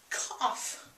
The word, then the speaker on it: cough: The next word related to the mouth and breathing is cough. And remember the GH sound here is really sounds like an F.